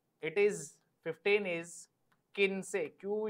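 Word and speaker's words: quince: इट इज 15 इज किन से क्यू यू आई एन सीई क्यू यू आई एन सीई किनसे किनसे इज 15 so this was द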